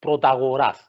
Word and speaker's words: Protagoras: And what I'm reminded of the Greek philosopher and sophist Protagoras. See the way I pronounced it?